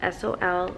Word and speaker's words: Sol: I got the shade Happy Soul, and it's spelled S-O-L like Sol in Spanish, sun.